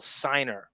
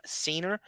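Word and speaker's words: Seigner: She's actually in the Ninth Gate, Emanuel Siner. So in addition to that, he has four accusations of either rape or sexual miscond. He's been married to Emanuel Senior S.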